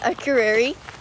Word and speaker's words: Akureyri: It's Akureyri, but it's a pretty big city.